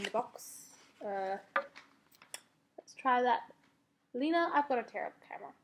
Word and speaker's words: Lena: It tells you how to pronounce it in the box. Let's try that. Lena, I've got a terrible camera.